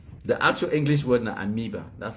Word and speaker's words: amoeba: They call him a moiba. The actual English word is amoeba. That's how it's pronounced.